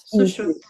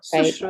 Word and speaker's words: Sushrut: Okay, so it's not Sushrut. Sushrut. It's not Sushrut. Right, Sushrut. okay.